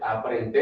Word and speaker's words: aprender: Aprender. Aprender. Is learn. Okay. Aprender. Or R. Yeah. Is that a T or a D after that? No, that's good. Yeah. Aprender is a D and then ER.